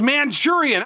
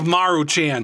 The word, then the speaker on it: Maruchan: But the other day, I saw a video where this guy was pronouncing this as Manchurian. I don't know how in the world you can get Manchurian out of Maruchan.